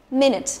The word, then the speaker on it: minute: There are 60 seconds in a minute. Rất là dễ đúng không? Minute. Đấy, từ tiếp theo sẽ là từ minute. Trọng âm và âm tiết đầu tiên, nhớ chưa?